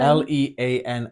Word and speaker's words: lean: it would still be lean no it wouldn't l e a n n because the the silent e changes the